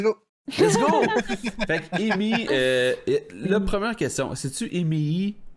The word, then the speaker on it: Emeii: C'est la prononciation en anglais, donc ça se dit super bien. Depuis switcher en français, là, les gens ont beaucoup de difficultés, mais ça reste Amy.